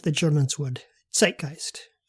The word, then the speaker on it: Zeitgeist: like the Germans would, zeitgeist, pronouncing the Z as if it were the letters TS in combination.